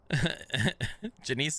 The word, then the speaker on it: Janice: Janice is pronounced like Denise.